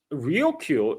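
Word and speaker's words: Ryukyu: Now, Okinawa itself, the Rio Island chain itself also is actually tied to this dispute because um the the Rio is the Japanese pronunciation of Luchu um which is what the island called themselves.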